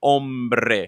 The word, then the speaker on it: hombre: As I was telling some singers a few days ago, the sound doesn't exist in Spanish, so it would be hombre. So you would roll the R.